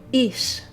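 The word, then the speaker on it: איש: The next noun is ish.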